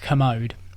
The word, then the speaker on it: Kermode: His name is Mark Kermode. All right. And he works for the BBC. He has is that a K? I always thought K. it would be spelled with the C. K-E-R-M-O. Like the commode.